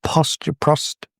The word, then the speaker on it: prostate: I've been told off for not saying it right, so prostate.